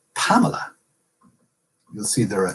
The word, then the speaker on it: Pamela: 3 in the word Pamela is a full syllable. Only the first vowel in the first syllable is a full vowel. The other 2 are reduced vowels.